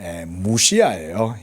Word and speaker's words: Mysia: 이게에 무시아예요, 여러분. 슬론. 그래서 이게 헬라에서는 Y가 발음이 모음 발음입니다. 우 발음인 우 발음이 됩니다.